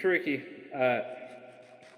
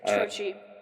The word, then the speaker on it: Trochi: As for me and Turkey, if I'm mispronouncing that, please correct me. Trochi. Trochi, yes. Trochi, yes.